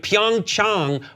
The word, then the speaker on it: Pyeongchang: it Athens those are Anglican eyes things but pyeongchang we are learning it now we might as